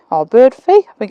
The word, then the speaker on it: Birdfy: last couple of weeks I was contacted by Birdy fee or bird fee I think it's pronounced um and they contacted me and asked